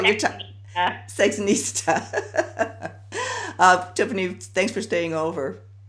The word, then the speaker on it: Sexinista: Entice Me and the chief, how do you pronounce this, sexnista? Is that what you call your time? Yeah. Sexnista.